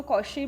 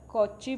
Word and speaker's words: Cauchy: कई इसको कॉशी भी प्रोनाउंस करते हैं, कॉची भी प्रोनाउंस करते हैं, एज यू are comfortable you can. Statement क्या है, कहते हैं